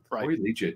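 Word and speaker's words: Liuget: high school legit yeah i think it's pronounced legit either way we know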